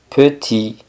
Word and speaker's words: petit: petit Entonces tenemos que pequeño es petit sin pronunciar la t y pequeña petit pronunciando